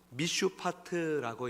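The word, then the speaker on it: מִשְׁפָּט: 단어가 바로 정사라는 단어예요 정사라고 번역된이 히브리 단어는 미슈 아트라고 읽는데 왕으로서의 공의로운 통치를 의미합니다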